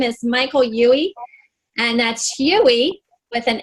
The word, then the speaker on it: Huey: to introduce him and his name is Michael Yui and that's Hughie with an H I have a way of pronouncing it wrong sometimes but anyway it's been